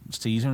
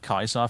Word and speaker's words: Caesar: are happy to say people get on your deck about saying season instead of Kaiser for example but they